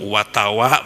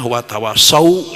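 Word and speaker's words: وتواصوا: khusrin illa ladzina amanu watawa berhentinya watawa padahal satu katanya watawaasaw Ya itu benar Mungkin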